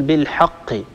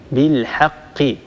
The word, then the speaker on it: بالحق: الحاء في كلمة بالحق لا نقول بالحق بالحاء حاء هذه حاء مستعلية مفخمة الحاء لا تفخمها العرب أبدا الحاء دائما هي حرف مستفل يتسفل الصوت عند النطق به وبالتالي ينتج عن هذا هو ترقيق الحرف بالحاء بالحق هذه ملاحظاتي على